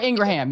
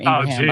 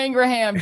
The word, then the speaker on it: Ingraham: Uh Laura Ingraham. Yes, I do call her Laura Ingram. I know what her name is. Laura Ingraham.